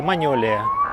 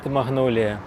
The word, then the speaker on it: магнолія: І спочатку її так і вимовляли: Маньолія. Але французьку люди не враховують. Звикли до англійської і тому поступово почали називати не маньолія, а магнолія.